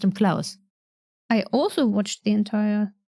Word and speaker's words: Klaus: think in the show they actually actually didn't pronounce his name claws but Klaus oh oh no no